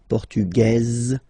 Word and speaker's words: portugaise: Feminine form, portugaise, you pronounce this z sound, okay?